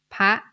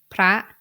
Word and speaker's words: พระ: So to pronounce this word, I should pronounce it in high tone. พระ Now let's read this cluster word. พระ I read this word in high tone because I follow the rule of the low class consonant because พอพาน is the low class consonant.